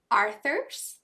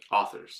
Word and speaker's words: authors: out it supported independent Arthur did I say it right authors authors I can never say that word right there's no R until the end yeah Arthur well okay